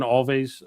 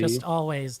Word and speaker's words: Alvvays: I had an Alvvays I don't know how you pronounce that band Alvvays. It's like always but with a double V. Alvvays.